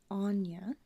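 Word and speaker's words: Áine: So, it is pronounced Anya. Okay, Anya. So, Anya is a powerful Celtic goddess and fairy queen who gave birth to incarnated fairies from her romances with mortal men.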